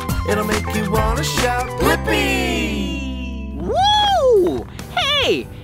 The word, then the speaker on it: Blippi: Blippi! Yeah, let's spell it together. Ready? B-L-I-P-P-I.